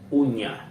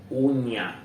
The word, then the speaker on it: uña: The first one, uña, uña, uña, uña. Uña means nail, nail, nail. So, uña, nail.